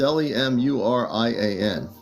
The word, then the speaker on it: Lemurian: Lemur. Oops. It's Lemurian, just so you know.